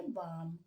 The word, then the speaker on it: balm: Okay, अगला word है BALM। तो हम क्या इसे बाल में पढ़ेंगे? नहीं, अब हम इसे पढ़ेंगे बाम।